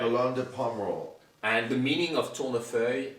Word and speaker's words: Lalande de Pomerol: Chateau Tournefeuille, Lalande de Pomerol. Lalande de Pomerol. You got that right. Lalande de Pomerol.